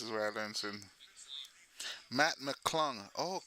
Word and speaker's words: McClung: y'all learning this is where I learned Matt McClung Oh, clung. Matt McClung.